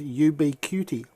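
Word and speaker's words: Ubiquiti: under can't be unseen the other pronunciation for it is UB be cutie Jason you ubiquity makes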